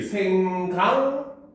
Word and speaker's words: 생각만: 자, 그럼 생각만이라고 쓰지만 발음이 어떻게 된다? 얘는 그 다음에 발음 그냥 편하게 해봐. 그치, 그럼 발음이 어떻게 되게 바뀌었습니까? 그치, 생강만. 이렇게 변했죠. 그쵸?